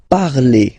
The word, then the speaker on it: parlez: All right, let's see now for vous, vous parlez. Okay, remember a z, when you combine them together, you get the sound e.